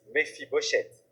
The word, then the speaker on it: Méphibosheth: Dites Méphibosheth. La première fois que j'ai entendu ce nom, c'était compliqué à prononcer.